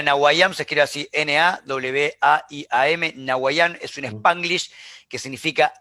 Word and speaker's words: Nawaiam: Nahuayán se escribe así, N-A-W-A-I-A-M. Nahuayán es un Spanglish que significa aquí ahora, básicamente, que es como viven los millennials y los centennials.